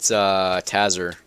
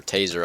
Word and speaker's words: Taser: I sent Tazer, or not Tazer, Taser. I always pronounce his name wrong, just because I see the double Z's and it looks like Tazer to me, but I know it's Taser.